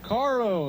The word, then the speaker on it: caro: I'd yell Caro and in Spanish that means expensive if you don't roll your r car yeah if you say that then it means car but if you don't roll your R it means expensive and the kids would